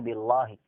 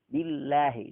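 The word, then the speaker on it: بالله: Tetapi kalau jatuh sesudah kasrah seperti a'udzu billahi, tidak boleh billahi, bacanya harus billahi, lahi. Sama juga yang jatuh setelah kasrah di bismillahi, lahi itu harus dibaca tipis.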